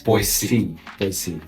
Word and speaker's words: Boise: So, you have to really pronounce the S. Boy. C.